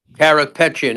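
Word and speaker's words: Karapetyan: Kapatian uh is still in jail. Correct. Carropetian is in still in jail.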